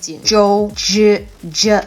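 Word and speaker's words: Jinzhou: location of Jin Jo it's again it's like that hard G you see the Zed and the H together anytime they add the H hard g g o Joe I like that when you see the Zed and H together it's a hard G so when you add H to things it makes it hard Jo Jo and the O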